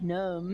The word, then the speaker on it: gnome: You can do a silent G word like gnome.